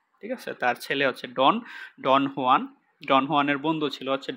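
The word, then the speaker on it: Juan: ছিল সে হচ্ছে ডন হুয়ান epic epic বলতে পারি ইপিক ডন হুয়ান উচ্চারণটা হোয়ান হবে এটা এবং তার বন্ধু হচ্ছে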